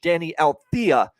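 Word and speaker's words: Deni Avdija: Danny Althea for the Washington Wizards. That's how you pronounce it.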